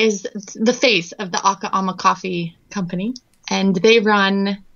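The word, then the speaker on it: Akha Ama: Tell me about this man named Lee and the, if I'm saying it right, the Aka Ama coffee. Yeah, it's actually Aka Ama.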